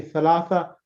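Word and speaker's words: ثلاثة: You say thalatha, because it has ta marbuta. Normally in the Arabic language, when you have a ta marbuta at the end, you just literally pronounce it as a ha.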